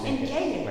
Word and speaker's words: Enkei: Genre Enkei, c'est comme ça qu'on prononce Enkei, ouais.